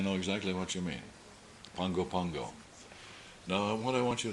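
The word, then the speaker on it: Pago Pago: a o p AO how do you pronounce thato pgo Pago no keep trying don't give up is there anybody here who's been there po no Pongo Pongo no okay you're right but that's the way they say it if you go down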